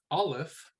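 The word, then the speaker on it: אלף: So Aleph is a silent letter.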